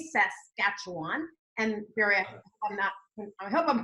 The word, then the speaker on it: Saskatchewan: very few Americans that know how to say Saskatchewan and here I'm pronouncing it correctly close man great so substantial